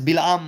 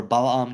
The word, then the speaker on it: Balaam: came to that is Bilam, or Balaam, depending on how you pronounce it. It's Bilam with a chirik, right, when he's with Balak, the king of Moab.